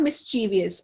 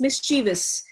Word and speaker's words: mischievous: Mischievous. हम कहते हैं बहुत ही mischievous child है, not mischievous, mischievous.